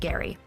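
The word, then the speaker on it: Elbridge Gerry: Yes, it's pronounced Gary.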